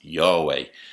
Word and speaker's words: Yahweh: He was identified by the Tetragrammaton, four letters, which in English would be YHWH, which most scholars pronounce as Yahweh.